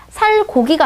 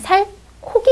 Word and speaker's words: 살코기: 살고기가 아니고 어떻게 되냐면 살코기 이렇게 소리 나는 거죠.